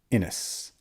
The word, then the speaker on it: Innes: doomed Oasis by Hammond inis I think that's how you pronounce his last name i n n s